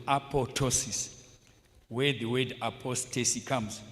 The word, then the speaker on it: apoptosis: Yeah, you might mistake by saying apoptosis. Apoptosis, but it's spelled. It's pronounced apotosis. The other P is silent.